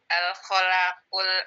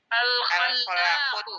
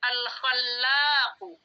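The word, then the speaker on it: الخلاق: Al-Khalaqul Alimu. Al-Khallaqu. Bacanya Al-Khallaqu.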